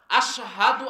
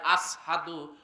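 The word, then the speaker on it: أشهد: আল্লাহু আকবার, আল্লাহু আকবার, আশহাদু আল্লা ইলাহা ইল্লাল্লাহ, আশহাদু আন্না মুহাম্মাদুর রাসূলুল্লাহ। এইখানে আশহাদু আমি সাক্ষ্য দিতেছি, এইখানে সে তার উচ্চারণ হয়ে যায় আসহাদু, শিনের জায়গায় সিন হয়ে যায়।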